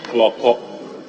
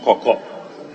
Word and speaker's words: Klorkor: The name is Kloko, not Koko.